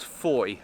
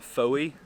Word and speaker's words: Fowey: you're wondering as well it's pronounced foy not foey which is what my